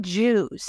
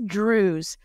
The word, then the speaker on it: Druze: It's not Jews, it's Druze. This is another ethnic group that are similar to Muslims, but they seem to be their own group. But that rhymes with Jews and the caption is wrong.